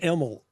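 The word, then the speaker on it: Imel: Is the last name pronounced Emel? Is that how we say it? It's pronounced Emel. I-M-E-L. Emel.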